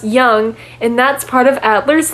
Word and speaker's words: Jung: Let's talk about this Carl Jung guy because his name would suggest he is dependent on others. I get it, because it's actually pronounced young, and that's part of Adler's theory.